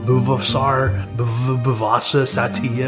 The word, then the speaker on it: Buvaisar Saitiev: Buvaisar Saitiev.